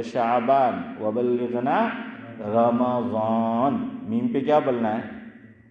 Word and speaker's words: رمضان: جزم، اور رمضان ہے زبر۔ دلیل دوسرا پارہ سورہ بقرہ، شہر رمضان، میم پہ کیا آیا؟ زبر آیا نا، شہر رمضان، تو میم پر جو ہے وہ فتح ہے۔ اب آخری بات آپ